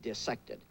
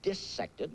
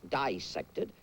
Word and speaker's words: dissect: be dissected uh parenthetically you notice I pronounce the word dissected not dissected it is not dissection when you cut up fishes and mollusks and cats and things the word is dissect uh and the word